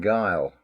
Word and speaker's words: guile: Now listen to the word guile. Then look how it's spelt. When you see it written, you'll see there's U in guile.